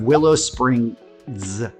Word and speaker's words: Willow Springs: next up we have Willow Springs. I say that because you will hear it pronounced both with and without that final S, and different people have different explanations for why, but that's for another conversation.